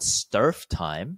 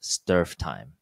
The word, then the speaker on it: strftime: The second topic is called strftime, or at least that's how this word seems to be pronounced in the computer science community.